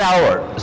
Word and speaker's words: hour: do you pronounce an hour so H is literally silent so therefore an is used so H is there